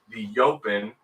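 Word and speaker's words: EOpen: a really cool layout it is called the open which is spelled e-o-p-e-n the open uh and this is the layout if you will i know you just call it the e open no it's the open it's like what we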